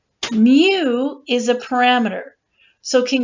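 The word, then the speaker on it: μ: the entire population and the way we pronounce it is Mu okay this is how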